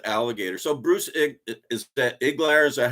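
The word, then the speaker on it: Iglauer: So Bruce is that Iglar?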